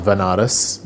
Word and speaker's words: Banaras: ended up going to Banaras which is a place in in India sometimes pronounced as vanarus which is a place